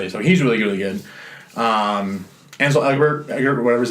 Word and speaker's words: Ansel: Ansel, not Hansel. That's the Ansel Elgort. Ansel Elgort, yeah. Yeah, I always wanted to say Hansel, so that I remember not Hansel, Ansel, yeah.